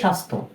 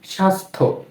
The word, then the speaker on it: স্বাস্থ্য: এরপর রয়েছে স্বাস্থ্য, দন্ত স ব ফলা আকার সা, এরপর দন্ত স সংযুক্ত ধ জফলা, কি হয়, স্বাস্থ্য। এখানেও কিন্তু আমাদের জফলার উচ্চারণটা হচ্ছে না, তাই না ফ্রেন্ডস?